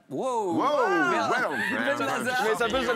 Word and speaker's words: Benlazar: La première équipe, c'est l'équipe chant composée de Merwan Berla. Ben Lazare. Mais ça se prononce aussi comme ça.